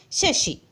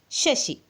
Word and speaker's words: chassis: The pronunciation of the next word is Shashi. CHASSIS. Shashi. Repeat. Shashi.